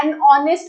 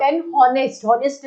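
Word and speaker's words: honest: आर ही बोलते हैं या एन ऑनेस्ट बोला जाता है नॉट एन हनेस्टर नहीं बोला जाएगा एच को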